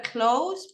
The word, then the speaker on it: clothes: same kind of clothes remember clothes pronunciation similar to close the serran right close